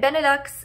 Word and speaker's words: Benelux: And Benelux is just really long because it's three syllables.